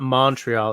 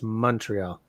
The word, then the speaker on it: Montreal: The big thing is it's not Montreal, it's Montreal.